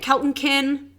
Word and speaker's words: Keltonkin: Follow me at Keltonkin on Instagram. Keltonkin. Spell it. Keltonkin. Like bumpkin. Keltonkin. Keltonkin. Yeah. Okay. Done. Like bumpkin, not like Tolkien.